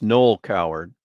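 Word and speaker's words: Noël Coward: the last name right the first name wrong it's null coward null coward okay and the SEC and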